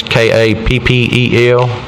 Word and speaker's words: Capel: The first one, the name of deceased is Carl Capel, I guess is how you say that. It's Kappel.